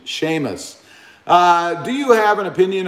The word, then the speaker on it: Seamus: Thank you very much for the pronunciation. Seamus.